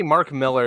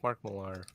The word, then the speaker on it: Millar: Some people say Mark Miller. It's like, no, I think it's Mark Millar. I think that's how you pronounce it.